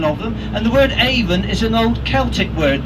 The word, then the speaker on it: Avon: all you notice that I pronounced it even not Avon Avon is a cosmetic company this is the River